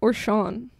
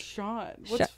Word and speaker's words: Sean: Boozy or Sean.